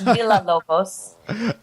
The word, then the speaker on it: Villalobos: And that, for the gringos listening, that's Villalobos.